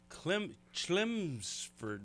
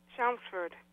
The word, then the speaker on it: Chelmsford: dina she's calling from clem schlemsford massachusetts how do you say that chelmsford okay well i was really not close so uh welcome